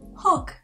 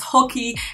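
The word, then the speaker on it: Hawke: excuse, it should be easy. Hawk. But not. My brain saw that E the first time I read the name, and now it's Hockey, and I cannot change it, so I'm sorry. I'm gonna pronounce it wrong for the whole video.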